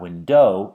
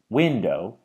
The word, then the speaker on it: window: So for instance, in the word window, the stress is on the first syllable, window. It's not window, it's window.